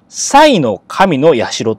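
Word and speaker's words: 幸神社: てありますけどこれは読み方塞の神やしろっていう神社なんですね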